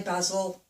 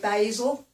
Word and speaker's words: basil: Oh, the other one, the herb, basil, we say basil, which again is also a name over here. I've heard Americans sometimes say basil, so that's another one that's slightly different that wasn't on the list.